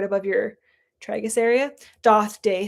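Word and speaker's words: Daith: Doth Day. It's pronounced Doth.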